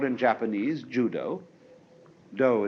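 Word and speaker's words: 道: called in Japanese Judo do is the Japanese way of pronouncing da The Gentle Way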